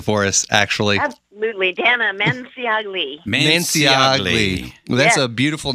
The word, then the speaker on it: Manciagli: Could you pronounce it for us, actually? Absolutely. Dana Manciagli.